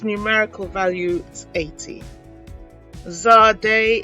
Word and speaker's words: Zadeh: Zadeh is the 21st letter. It is pronounced as tz, as in cat.